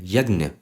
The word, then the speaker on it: यज्ञ: जो नाम है यज्ञ इसको बहुत लोग यज्ञ ऐसे भी उच्चारण करते हैं बहुत लोग यज्ञ ऐसे भी उच्चारण करते हैं ये भारत के अलग-अलग भागों में अलग-अलग तरीके से उच्चारण करा जाता है सभी सही हैं परंतु ये जो पदा